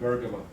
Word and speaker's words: Bergama: It's pronounced a little bit different, Bergama.